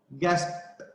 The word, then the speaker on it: gasped: Gasped. After P, it is pronounced as T.